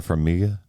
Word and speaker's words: Farmiga: You get it's Vera Farmiga is how you pronounce her Yeah.